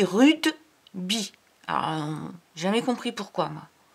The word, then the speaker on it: rugby: Et tu vas voir, rugby, c'est bizarre parce que ça s'écrit rugby et ça se dit rudeby.